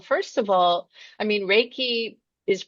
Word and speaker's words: Reiki: happy to well first of all I mean Reiki is pronounced so it's reiky like R A y- ke y it's a